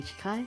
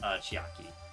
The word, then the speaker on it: Chiaki: But will you be really okay, Chikai? I still think it's dangerous. If you were going to say the first name, it's pronounced Chiaki.